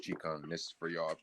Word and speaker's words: Qigong: It's actually pronounced Qigong.